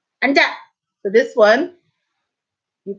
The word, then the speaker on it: 앉아: So this one, you pronounce the 니은. And remember, although when an 이응 follows, that sound carries over, not when there is 히읗.